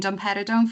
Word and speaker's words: domperidone: And I was going to pronounce this, but I may do it completely wrong. Is it domperidone?